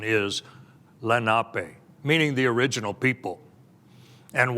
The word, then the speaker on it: Lenape: perhaps heard it as Lenape but the proper pronunciation in the unami dialect of the Lenape language the proper pronunciation is Lenape meaning the original people